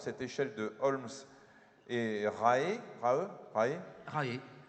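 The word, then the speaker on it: Rahe: échelle de Holmes et rae rae rae rae comme ça se prononce comme la secte voilà les degrés du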